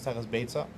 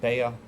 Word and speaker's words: Beitzah: why people call it Baya inside of beta but you remember mispronouncing the word it's called beta that's how you pronounce it and it's nothing to